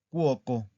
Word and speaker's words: cuoco: Cuoco. Cuoco es una palabra plana también, ¿verdad? Porque aquí está la sílaba tónica.